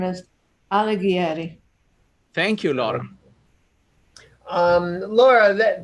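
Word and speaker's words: Alighieri: useful to everybody okay his last name is alegri thank you lord um laura thank you i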